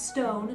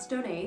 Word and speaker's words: Stone: That's Stone, not Stone-A. The accento is silent.